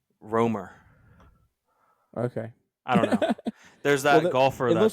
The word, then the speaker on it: Rankine: that first word Ro it's uh pronounced RoR okay I don't know